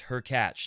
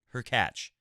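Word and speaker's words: Hurkacz: what he's talking about her catch should be pronounced as her catch similarly to latch so now you know Hubert her catch Hubie is what we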